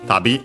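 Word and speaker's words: 旅: We have a relative clause modifying the noun, which is tabi, means journey, trip, travel in general. Yeah, accent on the last syllable, I remember correctly.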